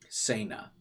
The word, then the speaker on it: Sena: Sena. I'll remember it now. Say no more is how we'll pronounce her name.